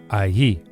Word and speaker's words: allí: And there is allí. The pronunciation of the double L in Spanish is very similar to a Y.